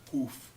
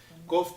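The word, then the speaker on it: קוף: tem mania na escola a gente aprende como a letra cuf mas na verdade a pronúncia correta é cof e cof significa a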